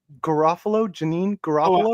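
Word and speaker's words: Janeane Garofalo: I think, how do you pronounce her name? Janine Garofalo.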